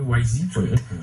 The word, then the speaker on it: Wysii: au volume de transaction donc la technologie s'appelle wi wi mais on va la prononcer en anglais wi plus je suis perdu